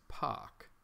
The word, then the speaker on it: pak: Actually, you know, it's POC, POC. They pronounce it POC at Cycling 74. I always forget. Pack is P-A-C-K. POC is P-A-K.